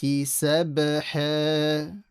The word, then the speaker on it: سَبْحًا: Now the red letter is qalqala. A qalqala is the bouncing. So the sound should echo. Sab, like that. Sab, sabha. Make the ha from the middle of the throat strong.